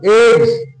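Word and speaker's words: eggs: এগস, দেখো এগস, গ, double জিতে গ আর দন্তের স এখানে এই এস এ বর্গীয় জ আসলো, তাহলে এগস।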